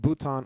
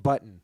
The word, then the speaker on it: Bhutan: to see India's neighbours Nepal and Bhutan on a map mispronouncing them as nipple and button it's great that is